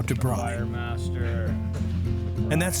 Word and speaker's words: braai: They need a lesson from our guide, Christoff, on how to braai. And that's spelled B-R-A-A-I, braai.